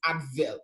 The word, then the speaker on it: Adwell: Then finally, we have Adwell. We call it Adwell, but it's actually it's a German word pronounced Advil, okay? But Adwell because it's an addition to wellness.